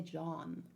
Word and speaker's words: Jean: Yeah, Jean is pronounced differently than the Jean of Genshin. Jean. That's why I keep trying to say John, but I don't know.